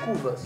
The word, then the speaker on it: Kuvasz: Cuvas. Isso. É um pastor húngaro. Esse é a pronúncia correta. É, na verdade, no singular é Cuvas, no plural é Cuvasok.